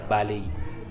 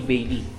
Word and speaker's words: Baley: cafeteria nila dito sa By. So tama yung hula ko kanina B talaga yung pronunciation nung ano nung place. So hindi Bailey it's B pala.